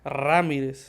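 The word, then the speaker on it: Ramírez: coach Ramirez coach Ramirez Ramirez you got to roll your RS if not coach Ramirez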